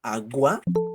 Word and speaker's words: agua: voz en este caso dime en agua Cuál es cuál es la sílaba tónica yo digo agua digo agua yo digo